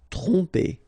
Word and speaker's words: tromper: Okay, same thing here. OM, so, and after that you get a consonant, so technically you will pronounce it like a nasal here. OM will go like on. Tromper. Tromper.